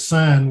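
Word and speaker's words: scion: may also hear that uh referred to as sign wood and that's how you pronounce that word as cion sometimes i see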